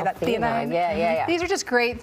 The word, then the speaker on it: L-theanine: Theanine.